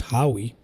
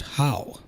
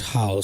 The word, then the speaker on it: Lord Howe: that this is pronounced Howe. I am not so sure about it. I guess there is no extra E. And it's not spelt IE, so yeah. Makes sense that it would be pronounced Howe.